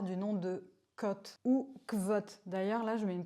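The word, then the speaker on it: Kvothe: Dans le sud-ouest, on prononce toutes les lettres. Donc j'ai tendance à dire vote. Mais il me semble que dans un des livres, il précise bien qu'on dit côte.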